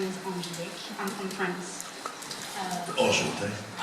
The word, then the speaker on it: Enchantée: Enchanté. Enchantée. Oh man, see, that's how you say it.